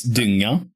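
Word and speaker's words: dyng: that I guess and it's spelled d y n g uh d y n g like like kind of like dying but yeah I thought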